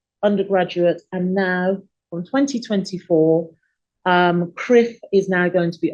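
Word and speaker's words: CCRIF: What we have here with these 2 organizations, so the first one being CRIF, as I pronounce it, so that's the Caribbean Catastrophe Risk Insurance Facility.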